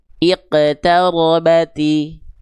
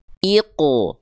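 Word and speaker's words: اقتربت: Jangan sampai pantulannya dibaca begini. Iqtarabati. Iqtarabati. Iqtarabati. Nggak dibaca tapi dibaca tebalkan pelafalannya. Pantulannya tetap tebal. Karena apa? Karena huruf qaf itu ketika dipantulkan tetap pangkal lidahnya naik.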